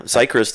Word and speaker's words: Seichrist: Seichrist, chef, owner of the Wyld. I always say Georgia. Seichrist. You can, whatever. You know, Seichrist is actually how you really Seichrist.